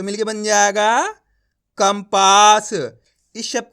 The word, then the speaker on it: कंपास: तरीका है अब देखो यहां पे का को ऊपर लगी हुई अनुस्वार की मात्रा उसके बाद वाला अक्षर कौन सा है पा ये रहा पा तो अपन ने यहां पे आधा मा का उच्चारण कर दिया कैसे कंपास आया समझ में अब देखो